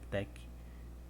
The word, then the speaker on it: TeX: A origem do latex, ele vem do tex, TX, geralmente a gente pronuncia tec, como se fosse TEC, tec.